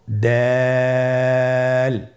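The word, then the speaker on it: دال: দাল হরফটি বারিক হরফ। এই হরফটি উচ্চারণ করার সময় আমরা অবশ্যই 3 আলিফ টেনে পড়ব। দাল।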